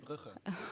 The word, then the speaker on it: Brugge: one was failed was the one in company Bruges. Bas, correct me if I'm pronouncing it right. You mean Brugge?